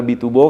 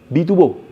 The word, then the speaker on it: biturbo: Di sini ada stikernya bituro. Karena memang motor ini sudah pakai by turuburo. Nah, itu sebenarnya cara bacanya biturbo.